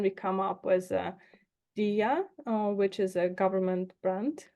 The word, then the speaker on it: Diia: are on this call in English it's spelled di a and then of course in Ukrainian it's you know Dia but I think it's